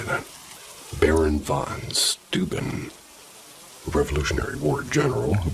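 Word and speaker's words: von Steuben: Another popular story is that the lanterns are carried by the Baron Vance. How do you say that? Baron von Stuben, a Revolutionary War general who once lived in that area.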